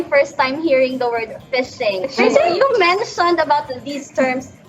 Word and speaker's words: phishing: it's spelled out as p-h-i-s-i-n-g fishing so phishing and identity theft is